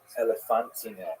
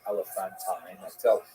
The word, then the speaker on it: Elephantine: Now, I always pronounce that, by the way, Elephantine. I looked a little more carefully, and I think it's supposed to be pronounced Elephantine. Maybe someone in the comments will correct me if I get that wrong.